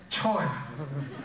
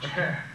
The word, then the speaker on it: 최: 최, often spelled C-H-O-Y, and pronounced Choi, but it's not really Choi, Che.